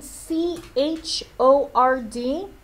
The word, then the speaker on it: chord: is this next one its name is written CH o rd but because English is weird this word is pronounced chord the CH is making a sound